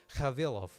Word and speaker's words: Cavillov: character in my universe whose last name, especially pronounced correctly, is Cavillov, which is a real